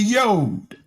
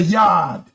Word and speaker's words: yad: In the measureretic they call it the yod. We call it the yad. Yad is spelled Y A D, not Y O D.